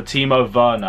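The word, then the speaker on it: Werner: well and up front i'm gonna go for timo verna and yes guys i pronounced it right i realized i said it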